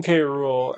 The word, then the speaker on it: K. Rool: Yeah, but they call him K- Rule. And I'm like, that's not how you say it. It's not It's K Rule. If you're going to like not pronounce it as an initial, then just call him King Cruel at that point.